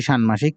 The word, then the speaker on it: ষান্মাসিক: ক রয়েছে, সেটি আমরা তালব্য শ এর মতো উচ্চারণ করব। শুষ্ক। ষান্মাসিক নাকি ষান্মাসিক? ষান্মাসিক নাকি ষান্মাসিক? অবশ্যই ষান্মাসিক।